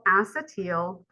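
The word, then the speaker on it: acetyl: two carbon something called acetal or acetal however you want to pronounce but I always heard people say acetel coenzyme a or COA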